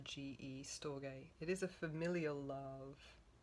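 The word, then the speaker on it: storge: Now, sto I'm just going to just so you know how to spell it. S t o r ge. Stoay.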